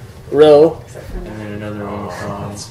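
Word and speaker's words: rho: Let's just pronounce this one. Row. Row. Every time you see this, it's a r. Row. Ruh. You just got to drill that into your head. Ruh. That makes the sound ruh.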